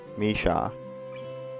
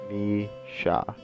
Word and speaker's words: Misha: this girl's name it is me ha Misha Misha Misha is consistent laughter and second the pronunciation of this one I will get these